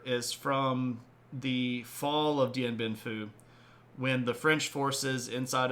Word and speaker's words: Dien Bien Phu: All right, Dien Bien Phu, which is this particular... The photo here is from the fall of Dien Bien Phu, when the French forces inside of Vietnam are basically going to lose their junk.